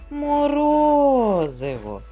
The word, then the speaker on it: морозиво: четвертий зробимо разом перевірку гукаємо морозиво наголос падає на другий склад Браво дітки з першим